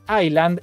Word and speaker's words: island: Escúchame, dice acá Sharing Frank 28 que la S en Island es muda para que no se confundan con Iceland, que es Islandia en inglés.